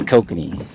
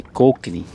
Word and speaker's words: kokanee: The Canadians really like to pronounce the O. We just say kokanee. They say kokanee. They really got the O.